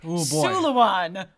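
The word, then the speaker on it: Súilleabháin: It's spelled very differently. They're very Celtic. Pádraig Suliwan, which is Suliwan, which is Sullivan.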